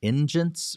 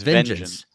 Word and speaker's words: Vengeance: Is it Ingens or Ingience or Engines. Ingens? Is that it? Okay. Vengeance. It's Vengeance.